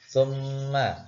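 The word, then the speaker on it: ثُمَّ: Contohnya adalah mim ditasdid ya, atau mim syaddah. Itu cara membacanya adalah summa.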